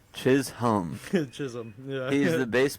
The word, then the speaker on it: Chisholm: Chisum. Chisum.